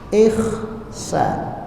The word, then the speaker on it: Ihsan: Ditulislah Ihsan pakai KH. Sehingga masyarakat masih mengikuti ejaan yang dulu, bacanya bukan H tapi Kha.